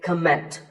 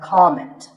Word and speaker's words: comment: I have heard many speakers say comment. Now, whether you use this word as a noun or as a verb, the first syllable is always com. So it's never a comment, it's a comment.